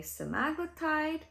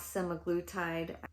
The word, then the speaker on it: semaglutide: I go on a simaglletide also pronounce simaglutide.